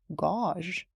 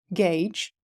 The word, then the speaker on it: gauge: a lot of people think that this word should be pronounced as gauge but in reality this is Gage and this is choir